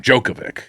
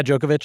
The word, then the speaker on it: Djokovic: I think the C's are itch in like if it ends with a C, it's an itch. Serbian, yeah. Jokic or Zubac. The D is silent.